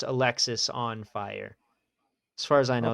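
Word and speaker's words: Alexisonfire: some somewhere I found it and it is pronounced Alexis on fire as far as I know it's confirmed.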